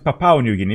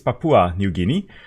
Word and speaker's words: Papua New Guinea: Papua Papua New Guinea I was pronouncing Papaw New Guinea but I think it's Papua New Guinea we're going to Papua